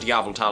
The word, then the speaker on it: Yveltal: Like, I'll say Yveltal and then I'll be like, for those of you who don't know, we pronounce it Yveltal on this channel.